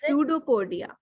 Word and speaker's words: pseudopodia: tell the spelling I don't know how to pronounce tell me the spelling uh PS say uh UD o p o it is pseudopodia okay pseudopodia and yes you are right okay